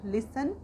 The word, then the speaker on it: listen: That's why we will say सुनना, लिसन।